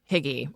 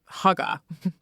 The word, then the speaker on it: hygge: And in came or higgy or huga. We all pronounce it wrong, but you've probably seen it.